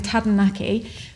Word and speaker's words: Taranaki: the comments they said if you have a problem rolling your r's as in tadanaki replace the r in tadanaki for d so imagine that you're